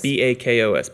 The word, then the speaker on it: Bakos: and it- Bakos. Yes. B-A-K-O-S. Yes, it's Bakos. Hungarian.